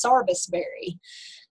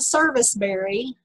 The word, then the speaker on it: serviceberry: my native western north carolina we call this sarbusberry so i remember the first time i ever saw or seen this spelled out it was service and i thought